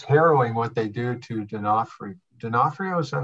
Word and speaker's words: D'Onofrio: It's harrowing what they do to D'Onofrio. D'Onofrio, is that how you say it? D'Onofrio, yeah.